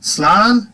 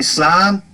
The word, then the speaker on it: slán: Slán, simply slán, pronounced outside in the Ulster dialect, slán, but you hear slán in the other dialects. You get more emphasis on the A with the accent here, is Shinu Faba.